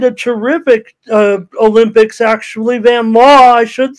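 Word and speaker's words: Vanloo: one by nine for the mystics uh Julie van Lou uh she played a terrific uh Olympics actually van law I should say we learned how to pronounce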